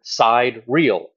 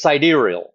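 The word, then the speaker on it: sidereal: go and Google the word side real it's siderial that's how you actually say it and I I already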